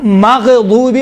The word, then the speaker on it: مغضوب: طرح غیر المغضوب علیہم، دیکھیں مغضوب، غین میں قلقلہ نہیں ہے لیکن تلفظ کرتے وقت کیا کہتے ہیں؟ مغضوب علیہم، ماغ نہیں ہے۔ غین اور خا میں دیکھیں، غین اور خا یہ کون سے حروف ہیں؟